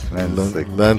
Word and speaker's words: Lansiquot: Lansiquot. The T is silent. It's French. Lansiquot. Yes.